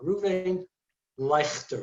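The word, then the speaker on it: Reuven Leuchter: are really amazing um his name is rabbi ruvving leicester it's spelled l e u c h t e r l e u c h t e r reuven leicester that's how you pronounce it he's from switzerland you can just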